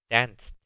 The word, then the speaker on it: danced: Eso es porque la E en la ed no se pronuncia, excepto cuando el verbo básico termina en una T o una D.